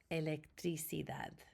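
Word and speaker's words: electricidad: Remember, we pronounce that A like the ah in father. So we would say electricad and these are all nouns and they are all feminine.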